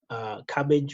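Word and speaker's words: Kabbage: Cabbage, which is spelled with a K, K-A-B-B-A-G-E.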